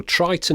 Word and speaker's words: Tritton: the world well they should know how to pronounce it if anyone does so Triton it is then even if it's misspelled to